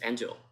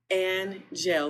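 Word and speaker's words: Angell: to all the students you pronounce my name and gel that's probably the easiest way to say it's n like angel but with two L's so an gel we're all from I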